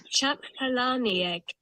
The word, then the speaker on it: Palahniuk: This is how you pronounce his name. Chuck Palahniuk. It sounds I'm like not sure. Palani egg. Like Palani egg. Palahniuk with a K at the end.